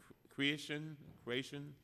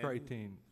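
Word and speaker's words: Chretien: Deming, this report says that it is from Paul Creation. You know him? Say that again. I'm probably pronouncing his name wrong. Paul, C-H-R-E-T-I-E-N. Creighton.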